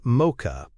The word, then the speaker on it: MOCHA: Mocha, pronounced Mocha, stands for manager, owner, consulted, helper, and approver, and can be effective in coaching-heavy or mentoring environments.